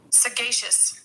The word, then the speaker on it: sagacious: me let's see pronunciation s a g a c i o u s how to pronounce sagacious sagacious that's why I can't say it's a hard G thank you thank you